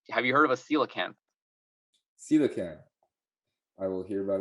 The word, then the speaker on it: coelacanth: Have you heard of a coelacanth? Coelacanth. I will hear about it right now. How do you spell that?